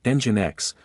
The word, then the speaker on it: Nginx: The acronym LEMP stands for Linux Operating System, L, Nginx Web Server, E, pronounced as Nginx, MySQL Database, M, and PHP Scripting Language, P.